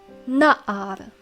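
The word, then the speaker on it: נַעַר: lad or young man notice how the accent falls on the first syllable it's and not like nahad in nahad the accent falls on the last syllable but in na'ab the accent is on the first so this we read as na'ar the next noun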